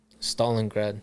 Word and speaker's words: Stalingrad: So in 1989, your mother's in, and how do you pronounce the city in Russia again? Stalingrad.